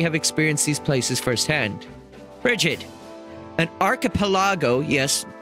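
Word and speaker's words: Brigid: but they clearly have experienced these places firsthand rdid an archipelago yes pronounced that way promise you nestled between foden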